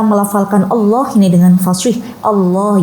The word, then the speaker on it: Allah: Allah ya, bukan O ya, tapi A, menggunakan A.